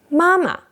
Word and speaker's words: 妈妈: Mama. Mama. The first ma is a fourth tone. The second ma is a neutral.